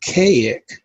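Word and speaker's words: Kazik: works in the cipher the name is pronounced chaoic but it's spelled k-a-z-i-k i don't know why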